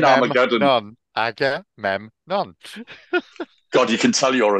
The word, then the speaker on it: Agamemnon: Agamemnon. God, you can tell you're a teacher. Yeah. Break it down. Agamemnon.